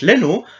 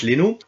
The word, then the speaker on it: Leno: O à la base celle-ci se prononce comme en français o comme chez le gardien du Bayer evercuson Bern Leno prononciation la française Bern Leno ou envoyer longue comme